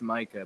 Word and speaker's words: Micah: your name is pronounced it's pronounced Micah but a lot of people make that oh Micah I'm sorry